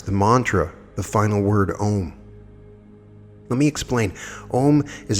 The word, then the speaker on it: om: wealth home home home it's om pronounced as in home 2.